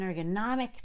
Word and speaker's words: ergonomic: That has a lot of syllables before we get to the stress. Ergonom. So I have to unstress ergon, and I don't release the ball till I get to An ergonom, an ergonomic chair, an ergonomic chair.